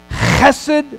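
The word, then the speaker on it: חסד: I'm going to enter into a covenant, chesed, that's the way you pronounce it in the Hebrew, chesed love, covenant-keeping love, that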